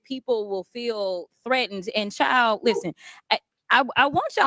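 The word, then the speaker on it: chile: uh like in Thug language when she said child okay c h i l e take the d is silent when you know when she when she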